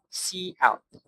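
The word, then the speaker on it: cout: C out is pronounced C out, used for output, and it uses the insertion operator, which is this.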